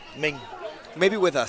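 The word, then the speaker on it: Minh: So Min is a Vietnamese name spelled M I N H and it's pronounced almost like M E N G. Ming Ming.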